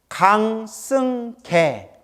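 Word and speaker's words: 강승개: 강승계. 개자가 개울할 때 개자예요. 강아지 할 때 개자.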